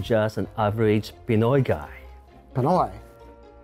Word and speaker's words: Pinoy: Pinoy? Other than it rhymes with Hanoi, what the hell is that?